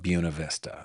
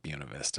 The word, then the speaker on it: Buena Vista: In Virginia, they have a town called Buena Vista. It's not Buena Vista, it's Buena Vista.